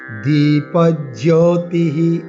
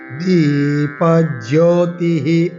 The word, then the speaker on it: দীপজ্যোতিঃ: দীপজ্যোতিঃ, বিসর্গ আছে, আমরা বিসর্গ উচ্চারণ করবো, কিন্তু পরে যেহেতু প আছে, পয়ের মতো করে উচ্চারণ করবো বিসর্গকে।